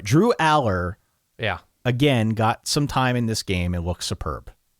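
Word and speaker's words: Allar: I finally learned how to say his name. It's Aller. Is it? It's Aller. Yeah. Okay. Drew Aller. I keep hearing Alar.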